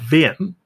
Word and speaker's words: Wien: Well, there's a report from Universitat Wien, or Wien, I think is the correct way to pronounce it, showing 10,000-year-old fireplaces from the Ice Age.